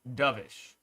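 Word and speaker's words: dovish: full type situation okay it's pronounced the bird doish as in the opposite of hawkish thank you appreciate you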